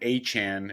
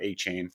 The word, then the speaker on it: Achan: I did get Devon Achan. It's pronounced Achan, not A-Chain, on waivers.